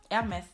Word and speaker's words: Hermès: Like they leave it, they can't pronounce it because in French you don't pronounce the H in the beginning. So you do say Hermès instead of saying Hermès. Okay, Hermès.